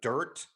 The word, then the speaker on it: Dyrt: I think there's Free Roam, The Dirt, and it's spelled DYRT, I believe.